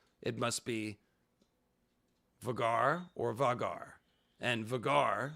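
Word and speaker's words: Vhagar: i have started by my pronunciation of the dragon known as vagar or sometimes vegar so my thinking on this was simply that vagar is not spelled like rhaegar and if it were spelled like rhaegar with an h-e-a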